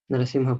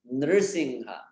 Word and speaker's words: Nrsimha: There are two names, Narasingha and Nrsimha, with that R like in Krishna, Nrsimha.